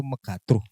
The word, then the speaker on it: Megatruh: kalau pengucapan sih karena kita kan ngambilnya sebenarnya namanya itu dari salah satu tembang mocopat ya. Oh, oke. Tembang mocopatnya itu megatruh.